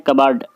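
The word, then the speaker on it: cupboard: English में कहते हैं कबर्ड कमांड इसमें पीस साइलेंट होता है नेक्स्ट बोरा बोरा को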